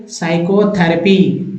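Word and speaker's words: psychotherapy: देते हैं तो साइको साइकोथेरेपी यहां भी पी साइलेंट कर देते हैं तो न्यूमोनिया यहां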